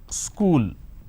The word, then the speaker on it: school: For example, the word which is school, there are 2 syllables, school. But in places like UP, Bihar, Jharkhand, they add another syllable. They pronounce this as school.